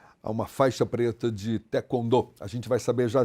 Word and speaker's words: taekwondo: essa essa prática esportiva falava-se taekwondo mas não é Taekwondo Taekwondo Taekwondo é porque nós precisamos falar exatamente não como se escreve mas sim como os coreanos pronunciam como os o início